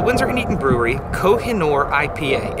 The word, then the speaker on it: Kohinoor: says meeting mountain of light and Persian kohinoor pronounced kohinoor is hard to say but a pleasure to